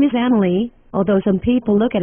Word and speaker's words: Amelie: But then again, I said my name first, which is Amelie, and not Amelia, like some people like to think, quite mistakenly by the way, because it's really Amelie.